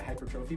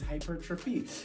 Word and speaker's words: hypertrophy: Okay, so when our main goal is muscle growth, aka hypertrophy, I have trouble pronouncing that word. I always call it hypertrophy, but it's hypertrophy.